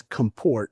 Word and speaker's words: comport: I came across compport which the the proper pronunciation is comport right to bring together.